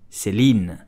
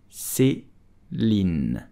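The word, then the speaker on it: Céline: founded by Celine vipiana so how do you pronounce Celine you will just say Celine Celine SE lean Celine did you know that Celine was founded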